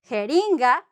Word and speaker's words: jeringa: It's because this J is pronounced like an H. Ha, ha, ha, ha. Jeringa, jirafa, giraffe, jirafa.